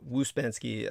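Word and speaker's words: Ouspensky: gentleman you referenced was waspansky it's pronounced like uh wuzbanski um there may be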